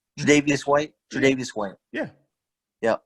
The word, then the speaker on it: Tre'Davious: What's his Javarius White? Is that how you say his name? Tre'Davious White?